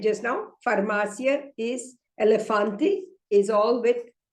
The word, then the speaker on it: elefante: Okay, the word elefante is, the first E is E, the second E is L, and the last E is fante. It is hardly pronounced. Okay, so it is elefante.